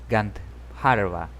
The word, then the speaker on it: Gandharva: Villa Gandharva. Así se pronuncia. Estoy seguro de eso.